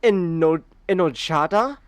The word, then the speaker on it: enojada: Did you say enojada? I don't fucking know. The J is pronounced like an H.